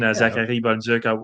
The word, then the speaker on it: Zachary Bolduc: I'm going to give the proper French Canadian pronunciation. Zachary Bonzuc.